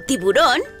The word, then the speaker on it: tiburón: palabras agudas Como por ejemplo japonés japonés o tiburón tiburón Ay qué miedo me dan Bueno ya